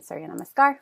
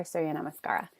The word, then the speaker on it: Suryanamaskara: So it can be said or written Suryanamaskar or Suryanamaskara. Just like yoga could be yog or yoga. You'll see the A oftentimes dropped.